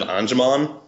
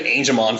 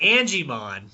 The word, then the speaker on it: Angemon: It's not hard to pronounce Angel.